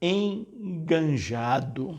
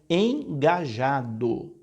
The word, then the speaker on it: engajado: muito atuante na comunidade é engajado não tem esse n nem no começo nem no meio da frase aliás essa